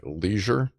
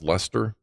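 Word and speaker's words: Leicester: it's not that so I'm guessing that' be like Leisure that's Lester not Leisure so that would be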